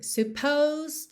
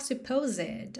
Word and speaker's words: supposed: Supposed to do. Olha que interessante esse E aí não é pronunciado. Então, nada de falar supposed, ok?